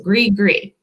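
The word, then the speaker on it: gris-gris: next one is and it does not look like it sounds either grigri which is spelled g-r-i-s-g-i-g-r-i-s so gree gree what is great gree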